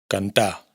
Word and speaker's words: cantar: Para empezar, la R final no se pronuncia en los infinitivos verbales.